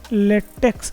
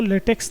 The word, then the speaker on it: LaTeX: अक्ष हैय अक्ष नहीं यह लेटिन वर्ड काई जिसका उच्चारण क ही होता है तो इसलिए हम लेटेक इसको बोलते हैं इसको लेटेक्स नहीं बोलते तो यह एकस ना मानकर इसको काई मानना ज्यादा सही रहेगा लेकिन इंग्लिश में हम एक्स ही लिखेंगे तो लेटे की स्पेलिंग में यह एक्स है लेकिन यह काई से आया हुआ है इसलिए इसका उच्चारण थोड़ा डिफरेंट है अब अपने जो डॉक्यूमेंट